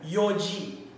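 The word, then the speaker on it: 四時: So, wala po tayong yongji. Wala pong ganun. So, ang tama pong pronunciation po nun ay yoji.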